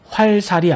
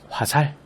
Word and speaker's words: 화살: 여기 보는 것처럼 달다리가 아닌 다다리, 활살이 아닌 화살, 바늘질이 아닌 바느질. 모두 발음의 편의성과 명료성을 위해 이러한 음운 변동이 일어났다고 보면 되겠죠.